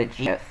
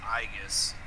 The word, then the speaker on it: Aegis: I always thought it was called Aegis. No, it's actually pronounced Aegis.